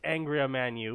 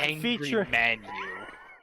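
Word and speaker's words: Angra Mainyu: Why did you have to butcher Angramanu like that? Like, you know how it's supposed to be pronounced. it's Angry Manu.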